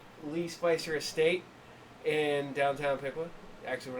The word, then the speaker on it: Piqua: Pequot? Pequot? Paqua? How do you pronounce it? It's Piqua. It's Piqua.